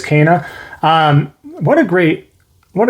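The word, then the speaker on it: Kena: super super difficult um number two being kana k-e-n-a i know some of those out there pronounces kina or something but it is kana um what a great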